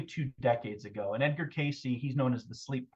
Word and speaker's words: Cayce: was this gentleman by the name of Edgar Casey. Some of you may have heard of Edgar Casey. Uh, I learned about him probably two decades ago. And Edgar Casey, he's known as the sleep prophet.